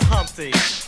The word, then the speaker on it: Humpty: let me introduce myself my name is humpty pronounced with the empty yo ladies oh how